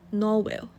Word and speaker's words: Norwell: pronunciation of this name it should spell as it is to pronounce as norwell norway there is there is a ooh sound okay okay it's